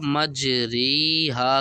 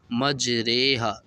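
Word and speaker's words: مجريها: پڑھتے ہیں پیچھے ہجے، اور صرف ری کی جگہ رے کریں گے، تو یہ حروف بن جائے گا مجریہا کی جگہ مجریہا۔ اب یہ حروف ہے کہاں،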